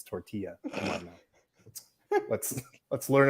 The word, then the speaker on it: tortilla: That'd be like saying tortilla. It's tortilla.